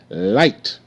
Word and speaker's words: light: real pretty it's bright light l i light light light okay uh GH is silent GH makes no sound